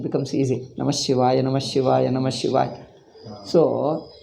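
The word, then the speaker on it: नमः शिवाय: It is clearly Namah Shivaya. He says Namaha Shivaya. He is struggling hard. Namaha Shivaya. Namaha, because the gap is coming. If you want to pronounce Ha completely, gap is coming. It's like a jerking. Why don't you say clearly Namah Shivaya, Namah Shivaya, Namah Shivaya?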